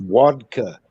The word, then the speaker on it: vodka: It's pronounced vodka. Vodka. I texted him that earlier and he about busted gut. I told him that's how it's pronounced. It's vodka. It's not vodka. It's vodka. There's a more W sound, so if you spell it with a W, you say it right.